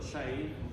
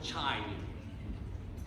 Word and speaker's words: chain: say right well this word chain is written c-h-a-i c-h-a-i-n so it's pronounced not chine which is how it could have been pronounced before so fixed pronunciation so